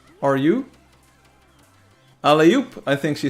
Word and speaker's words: alley-oop: Like alley and then oop. Alley-oop? No, not alley-up. It's not Alibaba. It's not English. No, it's French, I think.